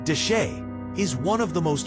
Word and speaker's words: Chelly: Canyon Deset, pronounced dash, is one of the most hauntingly beautiful landscapes in the American Southwest.